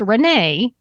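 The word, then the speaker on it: Renais: though the gym is spelled r-e-n-a-i-s but it's pronounced Renee and you all know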